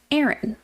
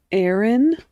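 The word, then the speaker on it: Aerin: of her husband named Aaron Aaron it's spelled different but yeah like it threw me off like wait Aaron like a normal name yeah it's a r i n so not quite a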